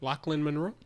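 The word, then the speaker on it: Lochlyn Munro: Lachland Monroe.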